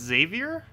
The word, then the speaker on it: Xavier: oh I see Xavier okay that kind of makes sense for its pronunciation then Xavier Xavier that seems kind of weird though because it's an X not a z but that does sound correct Xavier xylophone oh yeah that works xylophone xylophone yeah I guess you could say it with a z instead of an X that kind of still works also how do we